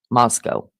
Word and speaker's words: Moscow: You guys make sure to say it right. Idaho. Moscow. That's the right way.